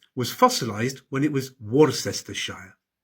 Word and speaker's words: Worcestershire: There are no absolute rules in English place names, but Cester is usually shortened to Ster, Bicester, Gloucester, and Shire is usually pronounced Shire, Wiltshire, Yorkshire, and Ham is usually pronounced Birmingham, Nottingham, and Ford is usually pronounced Fud, Oxford, Watford.